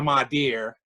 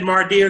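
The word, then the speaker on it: Madea: Did I say her name wrong? No, I thought you said Mardir because I was wondering if it was a term that I didn't know about.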